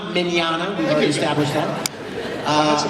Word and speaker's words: Mignogna: with Vic whose last name is hard to pronounce hello everybody hi uh my name is Vic Manana minana we've already established that uh I I've been